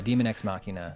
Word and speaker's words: Daemon Ex Machina: Yeah, Demon Ex Machina, spelled like the old antiquated way.